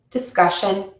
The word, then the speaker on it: discussion: You stress the syllable before the suffix in words ending in ik, shun, or us. Graphic, discussion, conscious.